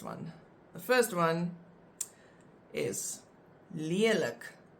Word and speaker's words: lelik: These words that we're going to look at now, the examples, they have always been written with only one vowel, and you always pronounce them as a langklank.